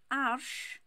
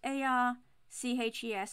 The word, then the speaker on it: Arches: It's spelt A-R-C-H-E-S. I know you know, but I'm saying it for the others. It's French paper. Some people pronounce it Arches, but it's actually French, so it's Arsh.